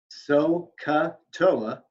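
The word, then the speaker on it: SOH CAH TOA: just as a reminder, so ka toa. Okay. And if you can remember those 4 syllables, so ka toa, you can always remember what sine, cosine, and tangent are.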